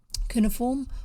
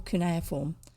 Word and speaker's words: cuneiform: know what that is that's kunai form i think it's pronounced kunaya form it's a type of writing that's made with indentations that look like long little triangles arranged together cuneiform or cuneiform i think i've heard it both ways looks like little birds